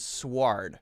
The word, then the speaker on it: sword: And I've heard this pronounced sword and sward. I've heard both pronunciations, so I'm not sure the official one.